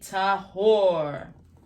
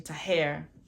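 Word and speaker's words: טהור: then he shall be tahor or excuse me I'm saying the wrong pronunciation tahare um he shall be to hair so on that seventh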